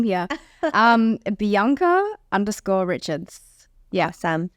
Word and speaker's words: Bianca: probably my Instagram um bianka sorry I have to say the American way no one understands the Australian pronunciation I've had to relearn my name here um Bianca Richards yeah awesome it's